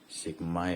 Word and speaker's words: sigma: Jadi ini sebenarnya bacanya bukan E ya, sigma ya.